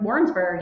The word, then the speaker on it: Warrensburg: Warrensburg, yeah.